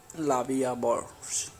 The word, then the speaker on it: La Vie en Rose: La Vie en Rose, literally life in prank, French pronunciation La Vie à Bord, French L'amour, is a